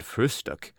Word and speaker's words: Frühstück: word breakfast, but always call it frühstück, with especial emphasis on the first syllable.